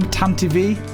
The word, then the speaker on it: Tantive: The name TANTIVE is pronounced as such as it's based on the word TANTIVE, which means to ride